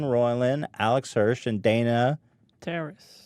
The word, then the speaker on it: Terrace: it with Justin roiland Alex Hirsch and Dana Terrace Terrace saying it right that's right yeah I think